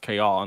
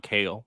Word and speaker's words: Chaol: chaol i hate that his name is pronounced kayal not kale but um i didn't